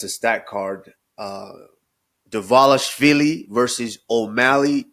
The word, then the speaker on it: Dvalishvili: UFC 316, as it is pronounced. 316. It's a stat card. Dvalishvili versus O'Malley 2.